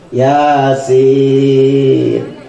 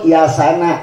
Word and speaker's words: Yasin: Yang nggak boleh disebut Yasana, nunnya diharokatin. Yasin itu nunnya mati, tapi Yasana itu nggak boleh.